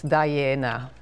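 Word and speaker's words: Daiene: So if you sound it out as an Italian word, it's Diana.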